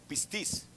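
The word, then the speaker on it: πίστις: terminamos fidelidad diga conmigo fidelidad en griego se pronuncia con tilde el upper y piscis o pistis esta palabra aunque tenga escúcheme esta palabra también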